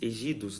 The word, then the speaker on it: ejidos: monocultivo, e os ejidos, que se escreve em português ejidos, né? Que o J a gente lê como som de R.